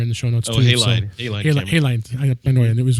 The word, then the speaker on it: Halide: I think they also are the same developer that developed the Halid camera, HAILDE camera. I put that in there in the show notes too. Halide.